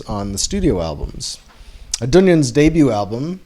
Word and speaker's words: Dungen: psychedelic rock band dunyan now dunyan is spelled d-u-n-g-e-n um and dunyan is